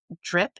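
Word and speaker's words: Dryp: I'm thrilled to introduce her next endeavor, Drip. That's spelled D R Y P.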